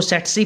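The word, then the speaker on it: tsetse: Option पहले देख लेते हैं, ट्राइपेनोसोमा, मॉस्किटो, इसको सेट्सी फ्लाई भी बोल सकते हैं, सीसी फ्लाई भी बोलते हैं, टी को साइलेंट करके, और या प्लाज्मोडियम।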